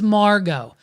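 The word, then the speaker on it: Margeaux: ID idty McKenna's actual identity her name is Margo and guess what she doesn't spell it regular dude and she needs to change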